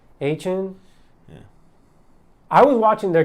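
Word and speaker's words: Achane: Look, Devon, how do you pronounce his last name? Achin.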